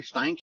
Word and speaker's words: Steinke: Steinke?